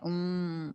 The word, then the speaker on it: où: U. Tá? U é o mesmo ou de conjunção, a mesma pronúncia.